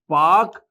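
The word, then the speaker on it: Palk: पर रॉबर्ट ध्यान दीजिएगा पार्क में पीएल के वाला पार्क है जिसमें एल साइलेंट होता है तो प्रोनंसिएशन में पाक आता है ठीक है तो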